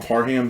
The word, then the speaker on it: Parham: you see what donald parham said no that people are asking how do you say his name he tweeted out it's par ham ham like he's going ham on this defense okay um he could